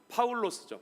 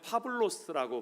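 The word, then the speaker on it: Παῦλος: 그리스어 발음으로는 파울로스죠. 파울로스. 현대 그리스어에는 파블로스라고 발음합니다.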